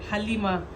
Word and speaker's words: Halima: let them use you it's Halima without the tea the tea is silent Halima simple just Alima please oh why do SE